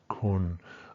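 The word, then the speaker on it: คุณ: And then the final tone, kun, kun, always pronounced here, always a level flat tone, right?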